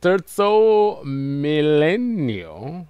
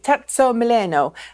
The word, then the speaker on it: Terzo Millennio: It's the, is it Terzo Millennio, I believe, is the way that you should pronounce that.